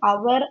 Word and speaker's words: hour: For example, H இஸ் a consonant, but in words like அவர், ஆனர் and honest the letter H is silent.